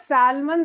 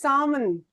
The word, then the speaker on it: salmon: Like you know, we say I would like to buy a dress of salmon color. L is silent. This is not salmon. This is salmon.